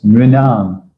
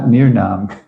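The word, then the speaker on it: nṛṇām: It's tough for Americans to say R with a dot below. I heard near. It's not near, it's nri. Can you say nri? Nri. It's nrinam, not near nam.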